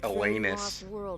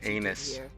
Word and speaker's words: Elanus: I believe it's pronounced Elanus than anus.